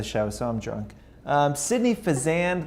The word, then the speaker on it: Fazende: Sydney Fazende, like Shazam, is here with us. Is that right? Did I say it right? Yeah. Fazende? Yeah, just go Fazende.